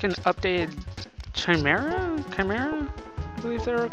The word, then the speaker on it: chimera: Chimera? I believe they were called. Well, it's pronounced chimera, but I don't think they spelled it right.